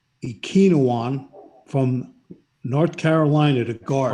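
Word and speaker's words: Ekwonu: water number two akeem i think it's pronounced ikinowan from north carolina to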